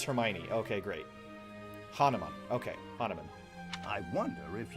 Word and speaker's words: Hanneman: Hanuman? Hanuman. I am Hanneman, a Hanneman. Crest scholar and professor Thank at the God they Officers' pronounced Academy.